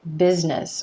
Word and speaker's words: business: When the letter S is in the middle of a word and it's supposed to sound like Z, like business or music, it's really noticeable if you pronounce it as the voiceless S sound.